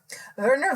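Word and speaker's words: Wernher: name verer Von brw verer Von Bron ver it's actually starts with a w but the way that they pronounce it yeah so ver Von and he um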